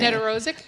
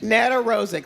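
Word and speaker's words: Nedoroscik: Oh, well this, you know, I do not know how to pronounce his last name. Net Rosik. Net Rosik.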